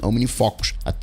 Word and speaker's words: OmniFocus: Então, no caso do OmniFocus, você fala Omni, então você vai ter que escrever O-M-I-N-I-F-O, com acento no O, fó, que a gente fala assim, OmniFocus.